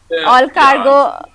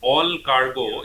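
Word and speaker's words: Allcargo: So looking at El Cargo, Yeah, so looking at all cargo, yeah, so I got it the wrong pronunciation. So all cargo, basically, if you look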